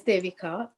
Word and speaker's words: Devika: Have I pronounced your name correctly, Devika? Would you like to correct me? Yes, my name is Devika, and you said properly.